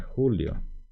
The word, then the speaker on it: Julio: colocar mi nombre shera Julio en guaraní podríamos incluso pronunciarlo Julio porque la letra j en guaraní se pronuncia Y entonces por eso sería julio y acá puedo decir simplemente